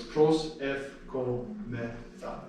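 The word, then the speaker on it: προσευχόμεθα: So it's pros ef ko me tha.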